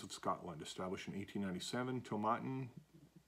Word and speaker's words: Tomatin: scotland established in 1897 tomatin to rhyme with satin so to matin so it's to matin um is one of